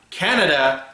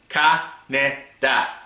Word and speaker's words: Kaneda: Yeah, Kaneda. Not Canada, Kaneda.